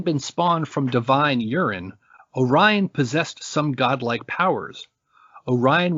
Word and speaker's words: Orion: that the boy's father named him yo Ryan because of his crude origins but but this pronunciation has fallen from usage Orion grew quickly into gigantic